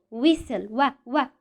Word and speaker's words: whistle: sell whistle we sell we hear the sound of the letter w but we don't hear the sound of the letter h and we don't hear the sound of the letter t because the letters h and t are silent here in this word silent okay let's go